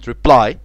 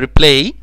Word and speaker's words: reply: يبقى كلمة reply ما نفعش اقولها replay، عشان replay اعادة اللعبة. لما يكون في ماتش ودخل جون ويعيدوا اللعبة اسمها replay، هنحط بعد ال LA عشان play يلعب، تبقى replay اعادة اللعب. اما هنا reply reply reply.